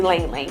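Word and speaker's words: ylang-ylang: And a lot of people don't know how to say Lang Lang because it's like Y-L-A-N-G, but it's actually Lang Lang. You don't pronounce the Y, the Y is silent.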